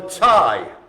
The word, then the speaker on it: Thai: Next up we have the tie. Tie. So it's spelled T-H-A-I.